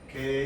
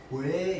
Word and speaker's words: 괴: 자, 이 괴라고 하는 소리는 우리가 이제 발음상으로 두 가지가 있다, 그렇죠? 그냥 우리가 일반적으로 단모음식으로 발음하면 괴 이렇게 된다. 이런 식으로. 자, 근데 얘를 이중모음식으로 발음하면 어떻게 되는데? 왜 이렇게 됩니다.